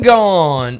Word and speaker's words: Gaughn: Brendan Gaughn. No, I know a Spencer Bond, though, that kind of rhymes with Gaughn.